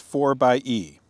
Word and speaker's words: 4xe: introducing the jeep wrangler a 4xe or it's pronounced for by e a new vehicle that is designed to provide